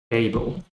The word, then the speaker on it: fable: Right, next we have fable. Fable is a dark L in this case. So fable. And the silent final E is because every syllable must have a written vowel.